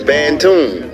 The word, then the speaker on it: Bandon: small area known as Bandon on Mars right pronounced as banon right the natives referred